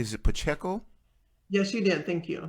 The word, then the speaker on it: Pacheco: Is it Pacheco?